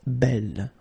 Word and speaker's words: belle: So it's actually quite interesting because these two forms, so the second masculine form and the feminine form, are phonetically the same. It's belle.